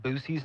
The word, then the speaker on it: Buc-ee's: It's pronounced Boosie's now. Is it really? No way. No, don't tell me. It's like on TikTok. It's like Boosie's.